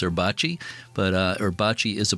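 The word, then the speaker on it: Erbacce: Uh, I'm not 100% sure how to pronounce that. E R B A CE. I think it's Erbachi.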